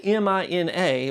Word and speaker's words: Mina: He also met Lewis Miller's 20-year-old daughter, Mina Miller. It's spelled M-I-N-A, but all of my sources say that it's pronounced Mina.